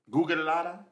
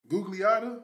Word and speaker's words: Gugliotta: Gugalada? Who? Gugalada. Gugliotta?